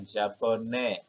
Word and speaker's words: japonais: Ya, japonais. Tidak ada E-nya. Berakhir dengan S, maka dia bacanya il est japonais.